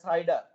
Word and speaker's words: CIDR: classless inter domain routing it is pronounced as cider so i i think